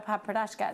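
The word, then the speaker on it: Padparadscha: Janet says, how do you spell Papradashka?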